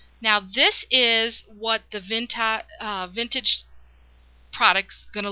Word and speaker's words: Vintaj: this uh new technique um and product by Vintage. Now, it's pronounced vintage, but it looks like it's spelled and the way it's spelled it should be vintage.